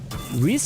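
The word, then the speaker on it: Rhys: Reese is a traditional masculine given name of Welsh origin meaning ardor passion or ardor I don't know the word passion or enthusiasm pronounced as ree okay thank god I'm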